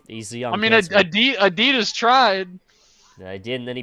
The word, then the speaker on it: Adidas: you toas yeah well you say Adidas but we say Adas over in the land down under Adas yeah you